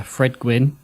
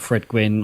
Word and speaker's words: Gwynne: We got bloody Fred Gwynne. Is that how you say his name? Gwynne, it is.